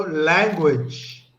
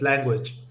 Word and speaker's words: language: So language. language, Okay. So remember that E is a silent E. So just language.